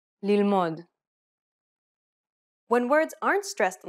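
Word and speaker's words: ללמוד: Correcting this is very easy because most Hebrew words are stressed on the last syllable. Pay attention to the stress pattern in the following Hebrew words. Bgadim, yalda, lilmod.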